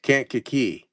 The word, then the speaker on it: Kankakee: Kankakee. Uh-huh. So is it Kankakee?